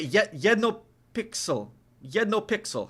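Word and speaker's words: jeden: Yed no pixel. Yed no pixel. How do you say that? Uh or or you say say yes no pixel like there's one pixel. Yeden pixel pixel.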